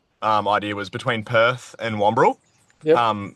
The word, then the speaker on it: Wamberal: They're paddling from Browns Beach in South Australia all the way, I'll probably stuff this up, to Wamberal, is that how you say it, in New South Wales?